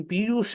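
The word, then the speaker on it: పీయూష: ఆ అక్కడ కూడా చూడండి ఇప్పుడు మనం పియూష అంటున్నప్పుడు మూర్ధన్య శకారంతో మనం ఉచ్చారణ ప్రయత్నం చేస్తున్నాం తాలవ్య శకారానికి ఇప్పుడు ఒకవేళ అక్కడ తాలవ్య శకారం ఉంటే గనుక గనుక నేను పియూష రూపే అని ఉండేవాడిని ఉన్నది మూర్ధన్ నిషకారం కాబట్టి పియూష్మ రూపే అది ఈ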